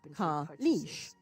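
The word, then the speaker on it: Kaleesh: They are called Kalish, pronounced Kalish.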